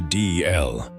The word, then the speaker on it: Dalziel: It is written Dalziel, but the traditional Scottish pronunciation sounds closer to "Dee-el." The difference comes from an older alphabet. The letter that now looks like a Z once represented a Scottish character called yogh.